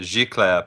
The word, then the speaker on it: Giclée: Gicle. Yeah, Gicle. um, Giclée. Yeah, if you want to pronounce it properly, Giclée printing. I It's don't a even know if French word.